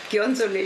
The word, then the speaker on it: Ghionzoli: But after this, every chat I have with you, Carina, Ghionzoli, is that how you pronounce it? Ghionzoli, yeah.